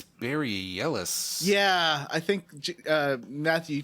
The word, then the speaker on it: Bareilles: I think it's Barry Ellis.